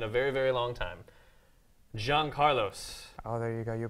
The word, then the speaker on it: Yancarlos: I've seen in a very very long time Jean Carlos oh there you got you pronounce it right I did I did practice